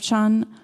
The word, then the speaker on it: Chan: or Zen Buddhist tradition, and Chan is the Chinese pronunciation of Zen.